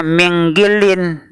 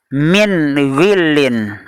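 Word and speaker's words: مِنْ غِلٍّ: Misalnya nun sukun bertemu dengan ghain, dibaca, ada yang membacanya minggilin, padahal min ghillin. Harus jelas, terang dan jelas, karena izhar halki, nun sukun bertemu dengan ghain.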